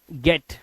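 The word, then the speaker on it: get: होता है देखो जैसे जी ई टी गेट एन ई टी नेट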